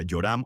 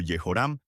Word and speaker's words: Joram: El nombre Joram, que en hebreo se pronuncia Yoram o Yehoram, proviene de la unión